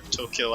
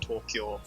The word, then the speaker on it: Tokyo: way, I'm pronouncing it Tokyo. Um, which is the correct pronunciation. It is not Tokyo. It's supposed to be two syllables.